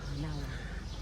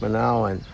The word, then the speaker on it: Manaoag: Our Lady of Manaoag. Manaoag.